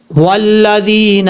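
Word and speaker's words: والذين: غلطی یہ کر رہی تھی، پہلے ہم اس کی ہجے کر لیتے ہیں. واو لام زبر ول، لام زبر لا، لال یا ذی، والذی نون زبر نا، والذین، اس طریقے سے پڑھا جائے گا.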